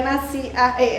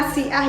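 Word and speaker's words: nasi'ah: temen-temen ya waktu itu aku pernah salah membaca bahwa ternyata riba nasi ae riba itu bacanya nasiah Ya walaupun ada petik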